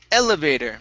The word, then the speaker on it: elevator: Next up, we have the word elevator. So the stress is at the very beginning.